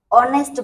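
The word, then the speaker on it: honest: हम नेस्ट नहीं पढ़ेंगे ऑनेस्ट पढ़ेंगे ऑनेस्ट का ओ तो यहां पर हमने एच लगाया है लेकिन एच साइलेंट होगा इसीलिए हम उस उसके प्रोनंसिएशन पर फोकस करके नेस्ट पढ़ेंगे इसीलिए नेस्ट के आगे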